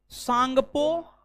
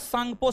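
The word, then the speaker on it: Tsangpo: त्सांगपो। टांका। क्षेत्र। इसका पूरा नाम ITSZ है, कोष्ठक में लिखा है, Indus त्सांगपो suture zone, 'T' silent है।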